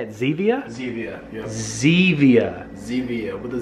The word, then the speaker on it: Zevia: Zevia, yeah.